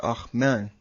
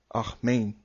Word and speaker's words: Amen: In the Hebrew it is, and is pronounced Ahman, Ahmain.